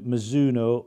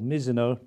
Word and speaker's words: Mizuno: that this is the new Mizuno or Mizuno dependent on your pronunciation stz 230 driver just